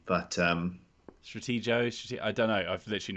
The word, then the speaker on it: Stratego: up in the chat i don't say stratego with a soft g but um stratego i don't know i've